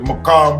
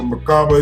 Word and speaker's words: Merkaba: The Merkaba or the Merkaba is different ways they pronounce it.